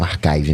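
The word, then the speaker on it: arXiv: pronunciava arive se lá o Manuel re disse que a comunidade científica pronuncia como Archive mesmo ah que essa inclusive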